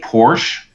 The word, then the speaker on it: Porsche: Porsche because in our Porsche club locally here, if you say Porsche, they do not like it. They in the newsletter, they remind you that it's called Porsche, and they spell it out with, so it's so sorry guys.